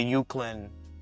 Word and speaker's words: Euclid: Correct me if I pronounce this wrong. The Euclid Ambulance Corps. Euclid.